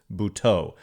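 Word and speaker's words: Buttó: I was confused because there's an accent over the O at the end, but they said it's BH, but it's Bhau. Jose Bhau is going to be on the Giants roster tonight facing his former team.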